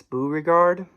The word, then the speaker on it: Beauregard: I just recently I heard him say his name, and I realized I've been saying it wrong. It's Beauregard, so I apologize.